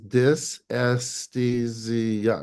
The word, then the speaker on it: dysesthesia: feelings is dysesthesia. It's five Okay. syllables. Aesthesia is to feel. An esthetician, an anesthesia doctor doesn't make you not feel. Right. Dysfunctional feeling is dysesthesia, and it's specifically genital pelvic.